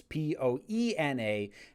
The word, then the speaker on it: Poena: spelling because you have it as p-e-o-n-a it's p-o-e-n-a and it's pronounced poena so that is that is how